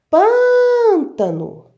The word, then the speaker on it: pântano: de você olha lá vamos chamar pântano a sílaba mais forte é o pão eu pronuncio ela pro longo ela muito mais se o pão é